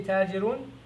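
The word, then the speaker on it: التاجر: As you try to pronounce this, you will see that you're not supposed to pronounce the lam. The lam is not pronounced. The lam is not pronounced, and instead the ta takes a shadda.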